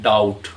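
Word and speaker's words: doubt: इसके एग्जांपल देखते हैं डाउट इसमें देखि डी ओ यू बी T spell आउट करेंगे बी लिखेंगे लेकिन जब पढ़ेंगे तो बी को हम पढ़ेंगे नहीं बल्कि बी को साइलेंट कर देंगे डेट कर्ज सेटल हल्का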